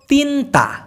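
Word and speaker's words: tinta: ভাষায় প্রেম গেল এবার হলো তিনতা টি আই এন টি এ তিনতা যেহেতু টি কে ত উচ্চারণ করে সেজন্য দুইটা টি এর জায়গায় ত বসায় লাগছে তো তিনতা মানে হলো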